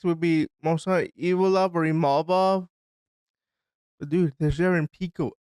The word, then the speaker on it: Imavov: So when I say his name, we're gonna go with Imavov. It could be Ivaloyev, but I'm gonna go with Imavov until somebody tells me different.